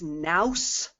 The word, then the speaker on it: nous: it must be new okay it's not it's nous like house rhymes with house and it it means